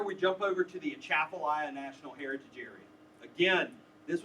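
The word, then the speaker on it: Atchafalaya: it's a big weird name most people can't pronounce it right it's a chapia and we created this overall look and feel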